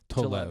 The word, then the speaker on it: Tolev: Am I pronouncing her last name Tolev. correct? Tolev, yeah.